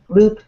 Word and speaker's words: LEWWWP: many we tried uh loop is the name of our site uh loop l e w w w p mhm your name you say loop yes we pronounce it in the loop with loop so our site is